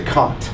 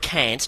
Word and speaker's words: Kant: Yes, that's right, Kant. That's how you pronounce it. Not Kant, not Kant, not Jones, but Kant. It's a German name, and I'm quite happy